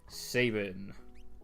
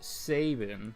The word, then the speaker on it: Sabin: pronounce no you can you can spell out the pronunciation like if it was Saban like the way I say it you would spell it s-a-y-b-i-n Sabin but if it's like